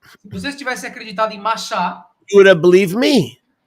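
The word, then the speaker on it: משה: Moisés, Mem Shin Hey, there's no Moshe there, there's Masha. Mem Shin Hey is without vowels, is pronounced Masha.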